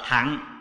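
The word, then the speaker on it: thặng: Cái chữ đọc là thẳng, mình đọc trại trại là thừa, chứ có đúng là đọc là thẳng, đại thẳng, tiểu thẳng.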